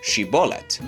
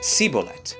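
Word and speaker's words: שיבולת: an ear of corn, which the Gileadites pronounced as shibbolet. But the Ephriamite dialect resulted in pronunciation that sounded more like sibbolet, identifying them immediately.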